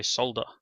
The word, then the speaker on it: solder: And yes, Australians do say solder. We pronounce the L in the word.